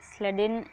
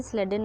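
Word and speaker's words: Schleiden: तो बहुत लोग इसका प्रोनाउंसिएशन अलग अलग तरीके से करते हैं, तो आप स्लेडेन एंड श्वान करके कर सकते हैं।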